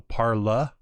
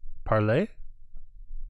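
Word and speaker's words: parley: hesitate to use that oh parla is that how you say it are you messing with me parlay parlay there you go not parlor see this is why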